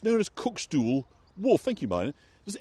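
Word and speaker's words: cuckstool: think about what a cookstool might be. And I think Marlena, probably amongst us, is likely to have an idea. So it's spelled C-U-C-K-S-T-O-O-L. A cook stool.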